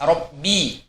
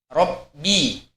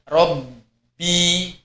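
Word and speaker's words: رَبِّي: Kemudian contoh misalnya seperti huruf ba pada lafaz robbi, robbi, jangan sampai robbi, ya.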